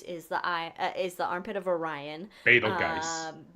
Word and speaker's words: Betelgeuse: Betelgeuse. Or Betelgeuse, which is probably the more proper pronunciation for it. Anyway, not spelled like either of those, but it's gonna go supernova.